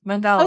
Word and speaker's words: mandala: Mandala.